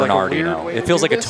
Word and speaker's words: Bernardino: the pronunciation guide, so you must pronounce the R. Bernard. No, Dino. it's got to be Bernardino. No, they Yes, wouldn't. man. If there was a silent R, they would say so. Bernardino. Say it quickly, it'll be Bernardino anyways.